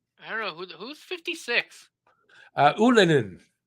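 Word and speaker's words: Ylönen: Ullinen, and that's the right way to say it. By the way, that's from his mouth. Oh, so not Ullinen? It's Ullinen. Yeah, he's asked everybody to start saying it that way too.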